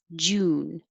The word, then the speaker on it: June: So number 9 is a single syllable, just June, but you have to stretch the oo, stretch the vowel longer than you might usually do. If it's too short, it'll sound like June. So you have to hear the vowel sound, June.